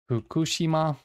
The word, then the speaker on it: Fukushima: Fukushima. Also, the F is not the labiodental F that we do. It's a bilabial fricative. So they use two lips.